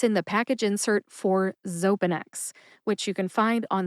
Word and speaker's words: Xopenex: down into syllables and often the syllable with the emphasis is indicated in this case that is the first syllable though all right real